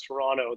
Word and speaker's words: Toronto: of all i pronounce toronto the way that you should pronounce it without the t at the end is that correct what